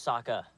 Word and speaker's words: Sokka: she's so cute uh my name's Saka rhymes with AA and waka waka my name is Saka